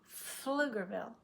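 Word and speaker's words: Pflugerville: live I live in flugerl the p is silent we go straight to the H I live in fluger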